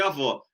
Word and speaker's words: avó: O avô é o O fechado e a avó é o O aberto. Aham. Então, avô e avó.